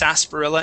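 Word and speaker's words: sarsaparilla: Um, but yes, it would be pronounced sasparilla instead of sar. Sarpilla, it's s. Okay. It's sasparilla. Okay. Yeah. Instead of Yeah. The r is silent.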